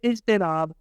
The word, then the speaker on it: اجتناب: اجتناب۔ احتیاط، تے کے اوپر زبر نہیں پڑھیں گے۔